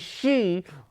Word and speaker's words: Xi: and yet they have a president whose name is she who's a he and pronounce his name XI now if that ain't